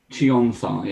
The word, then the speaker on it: Yuan-ti: This is the river Yaun-Ti.